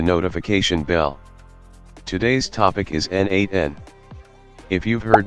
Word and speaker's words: n8n: n8n is pronounced as n8n, and it stands for Nodemation, meaning automation using nodes.